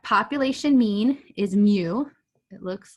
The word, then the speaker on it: mu: like moo cracks me up okay so that's mu that doesn't even look like a u right